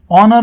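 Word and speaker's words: honour: लिए एक सम्मान है ऑनर में एच जो है एच यह साइलेंट है इसको बोलेंगे ऑनर क्या बोलेंगे ऑनर साउंड आएगा ओ से ऑनर तो एन लगेगा मिस्टर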